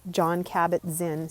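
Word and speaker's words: Jon Kabat-Zinn: One of my favorite mentors, John Kabat-Zinn, so his name is spelled Jon, and Kabat, Kabat, and then Zinn, Zinn.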